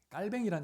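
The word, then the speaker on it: Calvin: 칼빈의 본명은 프랑스 중세 프랑스어로 발음하면 재앙 꼬뱅 꼬맹이란 이름으로 불리죠.데 현대 프랑스로 하면 짱깔 깔뱅이란 이름으로 많이 불려지기도 합니다.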